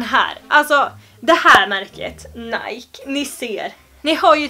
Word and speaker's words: Nike: Men nej, det uttalas inte Nike. Det uttalas Nike. Eller hur känns det som att det har varit en svensk person i den här uppe? Nej, det heter inte Nike, det heter Nike.